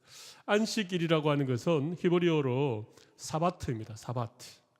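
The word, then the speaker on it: שבת: 사바트. 네. 히브리어가 나와 있는데 그건 좀 무시하고, 아무튼 이 히브리어를 읽으면 사바트, 그렇게 발음이 되는데, 이 사바트는 일을 멈추다, 그런 의미입니다.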